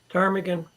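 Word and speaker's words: ptarmigan: a tan a what Tagan Teran yeah with a p yeah it starts with a silent pee exactly beautiful I love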